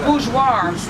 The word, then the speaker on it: Bourgeois: And his name is Bourgeois.